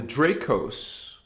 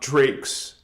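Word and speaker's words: Dracos: Now, there is an exception we'll talk about tonight called the Draos. The Guardians spell it D R A C O S, not Drakes. Okay.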